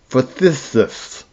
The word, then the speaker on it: phthisis: It is also a remedy for other spasmodic coughs, as those of measles, bronchitis, laryngitis, that word I can never pronounce, Phthis, so phthisis.